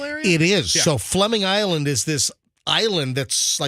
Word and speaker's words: Fleming: You guys know where Fleming Island is? Never even heard of it. Fleming Island is in the Jacksonville area? It is. Yeah. So Fleming Island is this island that's sort of in the St.